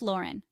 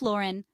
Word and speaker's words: Lauren: pronounce some popular American fashion brand names Ralph Lauren Ralph Lauren the Lauren is pronounced like low Ren not La Ren Calvin